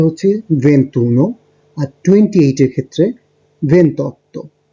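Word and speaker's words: ventuno: তো আপনারা দেখতে পাচ্ছেন, একটু আমরা দেখেছি 21 এর জন্য উচ্চারণটা হচ্ছে ভেন্তুনো, 22 এর ক্ষেত্রে ভেন্তিদুয়ে, 23 এর ক্ষেত্রে ভেন্ট্রিত্রে।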